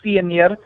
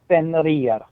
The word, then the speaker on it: Fenrir: He is the one-handed god who offered his hand to the giant wolf Fenrir to help trap. Sorry, Fenrir.